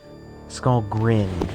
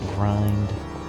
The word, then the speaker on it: Skullgrin: Skullgrin, not grind, or any of that. I've heard it pronounced all those ways.